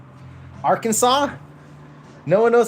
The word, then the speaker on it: Arkansas: And that's how you get things like a state called Kansas and a state called Arkansas, even though Arkansas is spelled R Kansas.